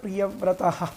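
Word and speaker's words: പ്രിയവ്രതഃ: പരാഭവഹ എന്നാണ് ആദ്യത്തെ ശ്ലോകം പ്രിയവ്രതോ എന്നുള്ളത് പ്രിയവ്രതഹ എന്നാണ് പ്രിയവ്രതഹ എന്നുള്ളതാണ് ഭാഗവത ആത്മാരാമഹ കഥമുനേ ഗൃഹേ ഗൃഹേ രമത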